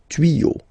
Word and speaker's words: tuyaux: Des tuyaux. Same rule, you don't pronounce it.